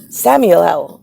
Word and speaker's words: Samael: sun right by samuel s a m a e l samuel samuel samuel is how i pronounce it but um uh in